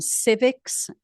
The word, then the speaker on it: Civiqs: these numbers came from Civics which is spelled civiqs um this is the